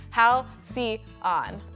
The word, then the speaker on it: Halcyon: Step 1 is understanding how to pronounce Halcyon. It's Halcyon.